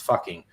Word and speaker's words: Fugging: The official name changed to Fugging, Fugging, but in their local dialect, that's still pronounced fucking.